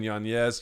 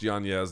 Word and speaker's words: Yanez: Rob Font defeating Adrian Yanez. Yes, it is pronounced Yanez. There is an N-Y over the N. He doesn't pronounce it that way. You can say Yanez if you want. Doesn't matter. 257 of round one.